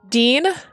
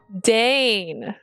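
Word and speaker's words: deign: I know this word d e i g n please tell me how to pronounce this word it's a verb that's fine I know it's a verb yeah yeah show me that thing where you say it Dean Dane Dane we've learned a word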